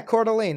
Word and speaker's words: Coeur d'Alene: jerk I don't even know how to pronounce that of course this is an Idaho an Coeur d'Alene yeah Coeur d'Alene there you go to lean Idaho something you'd